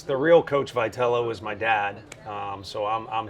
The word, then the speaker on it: Vitello: This is the manager of the San Francisco Giants, Tony Vitello, or as I like to introduce him, as a 1997 Missouri State soccer champion from DeSmet High School.